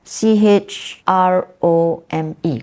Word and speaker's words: chrome: sound as Charity but c h r o m e chrome chrome that is a cur sound it's c h r o m e Chrome but it is pronounced with a C Sound and so church is